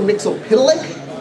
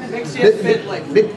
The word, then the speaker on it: Mxyzptlk: Mxyzptlk. Did I pronounce that right? Mxyzptlk.